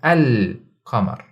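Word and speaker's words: القمر: When it comes to al-huruf al-qamariyya, we pronounce the alif lam clearly and we put a sukoon on the lam and make it very apparent. So we say al-qamar.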